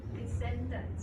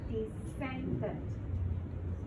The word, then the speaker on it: descendant: Descendant. D-E-S-C-E-N-D-A-N-T is not the second. S and C are pronounced as the same S. So it's descendant.